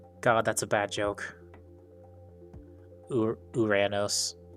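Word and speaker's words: Uranus: Uranos. Yeah. People just like to call it the other thing because the memes, I suppose.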